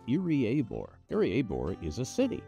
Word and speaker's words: Iriaebor: doing this this is irie aore e of aore so ear and a are your of the four syllables so make it four syllables and those are the two that you emphasize irie abore I abore is a